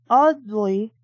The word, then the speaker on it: Audley: Anselm Audley. It sounds like I'm saying oddly instead of trying to pronounce it with an A.